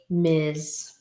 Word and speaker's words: Ms: r s period misses ms m s period miz they're sticking together miss m-i-s-s miss often o